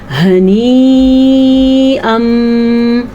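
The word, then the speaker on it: هنيئا: البتہ اس کو 5 سے 6 سیکنڈ تک لمبا کر کے پڑھتے ہیں. کیسے؟ جیسے کہ میں نے ابھی آپ کے سامنے پڑھا ہنیئا.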